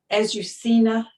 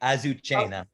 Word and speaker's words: Azucena: point of view, and I'm not going to pronounce her name right, Azucena. I can't do any of these foreign names well. That's okay. Azucena. Azucena.